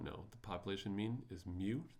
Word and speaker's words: mu: The population mean is meu pronounced just like the Pokemon and then the population standard deviation is sigma.